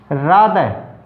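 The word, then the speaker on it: rather: रादर, रादर THE आया है तो ई में THE आते ही हमारा उच्चारण क्या होगा दे, ठीक है।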